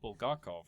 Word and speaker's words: Bulgakov: on a Russian science fiction story by Mikhail Bulgakov, right?